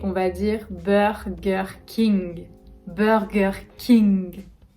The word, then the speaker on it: Burger King: va dire burger king burger king burger comme le beurre beurre gher king burger king en troisième on aura